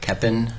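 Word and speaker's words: Koeppen: name and spell it my name is eric keppen and last name is spelled k-o-e-p-p-e-n okay a couple of things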